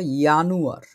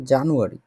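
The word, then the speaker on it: Januar: এটার যদি আমরা উচ্চারণ করে লিখতে চাই এটা, তাহলে ধরেন ইয়ানুয়ার, ইয়ানুয়ার। ঠিক আছে, জানুয়ার না, জানুয়ার হচ্ছে জানোয়ার জানোয়ার লাগে না শুনতে একটু, এটা ইয়ানুয়ার।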